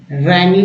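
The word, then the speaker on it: wrangling: Next word है रैंगलिंग, रैंगलिंग में W silent है, झगड़ालू लड़ाकों को बोलते हैं रैंगलिंग, क्या बोलते हैं रैंगलिंग।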